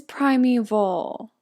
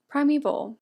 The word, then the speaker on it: primeval: let me look it up oh it is primeval why is it spelled like that primeval it's been almost 48 hours since I watched